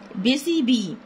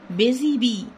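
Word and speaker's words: Busy Bee: المشغولة أو النحلة النشيطة بيزي بي بيزي بي بي يو اس واي بي اي اي حرف الاس بينطق زد بيزي بي.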